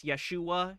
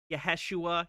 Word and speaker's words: Yeshua: Is he pronouncing Yeshua as Yeshua? Yes. Yaheshua. Yes. The chaos that will ensue, the fear that people will be with Yahusha.